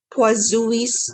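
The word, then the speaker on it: Poiseuille: is this law so how do we pronounce this properly it's poisous law was this is the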